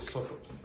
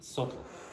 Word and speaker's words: subtle: The adjective is subtle. S-U-B, don't pronounce that B. T-L-E, subtle.